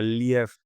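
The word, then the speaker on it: Лев: traducimos así como León, pero realmente ruso se escribe le, pero ellos no, ellos pronuncian cuando se escribe con e pronuncian como un deep tongo. Entonces, realmente al oído se escucha lief y entonces a mi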